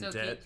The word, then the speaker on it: debt: this cycle you're in debt slightly silent so keep silent b because dead the b is silent right there's that that's